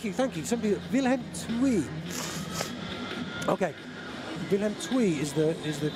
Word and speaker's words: Willem II: Okay, Willem II is the correct pronunciation.